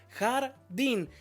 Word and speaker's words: jardín: ¿Dónde está la sílaba tónica? En la primera, jardín.